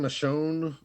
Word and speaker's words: Michon: Uh, we have the San Michonne Silver Saints. I guess that's how you, huh? San Michelle. Like, Michael, it's it's M I C H O N. Oh, San Michonne.